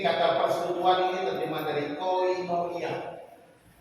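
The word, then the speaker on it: κοινωνία: Ini kata persekutuan ini terjemah dari koinonia. Ini bacanya koinonia, ya, bacanya begitu. Hurufnya begitu. Ini kappa, omikron, iota, nun, omega, nun, iota, alpha.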